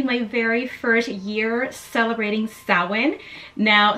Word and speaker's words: Samhain: very first year celebrating sowin now sowin is spelled s-a-m-h-a-i-n so if you were to read it just like that it reads Sam Hayne but it's pronounced salid which is celebrated on